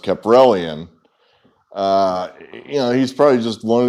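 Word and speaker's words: Kaprielian: This guy, I think it's pronounced Caprellian.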